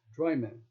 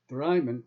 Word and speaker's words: Drymen: you trying to say rope pronounces the small town of dremen like two words dry man and mixed with his accent the scots are left lost for any ability to assist the scots say drymen like bremen so after